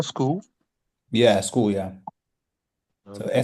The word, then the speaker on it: Skoll: one you call school? Yeah, school, yeah. So Okay. SKOLL. So it's spelled like Yeah, that.